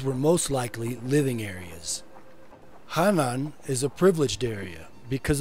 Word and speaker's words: Hanan: More correctly pronounced, Hanan means upper in Quechua.